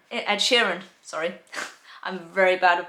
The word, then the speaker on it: Sheeran: musicians have stammers ed sheeran for example right sharon ed sheeran sorry i'm very bad with pronunciation of names but ed sheeran um yeah